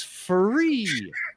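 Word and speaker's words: Fure: but um it's actually free i don't know why i call it i call it fear because it's spelled f-u-r-e and i had the ceo on and he's like it's called free i'm like he's like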